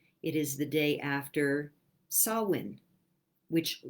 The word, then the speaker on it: Samhain: is the day after sawwin which looks like samhain if you were to see the spelling of it but it's an old celtic word and it's pronounced sawwin and it is the